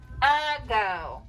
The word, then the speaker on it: ago: go but we say a go so it's a thinking word we think a go but we say a go so clap that word